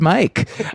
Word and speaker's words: Myq: I answer to any spelling that's pronounced Mike. If people say Mike and it sounds friendly, I kept switching it up whole interview.